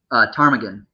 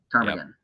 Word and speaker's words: ptarmigan: Ptarmigan. Oh, okay. So the P is silent. Yep, P is silent. Ptarmigan.